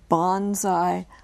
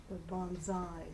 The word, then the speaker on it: bonsai: blue team was announced are there any alternate pronunciations not really Bond I guess it would be more U accent accent could either be Bonsai or Bonsai Bonsai is the first Cho Bonsai is the First Choice Bonsai b a n